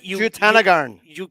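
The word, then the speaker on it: Jutanugarn: Jutanagarn. There it is. Jutanagarn.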